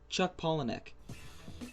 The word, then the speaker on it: Chuck Palahniuk: Chuck Palahniuk. That's how you pronounce it.